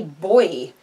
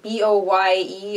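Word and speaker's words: Boye: So this is an aluminum crochet hook, and this is by the Boy company, B-O-Y-E, or yeah, Boy, I think it's called Boy. I don't think you pronounce the E on the end, but anyway.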